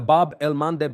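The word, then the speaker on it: Bab el-Mandeb: Here in the Bob Elmanddeb Strait. That's how you pronounce it. Okay, for those who want to learn Babel El Mandeb, Abel Mandem in this region here, that's straight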